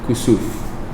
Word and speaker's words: kusuf: So you see kusuf and khusuf. Okay, the first one is with a kaf, right? You might want to write it. Kusuf is kusuf. Kaf, sin, waw, fa. Kusuf.